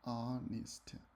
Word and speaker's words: honest: Yeah, the H is silent. Honest.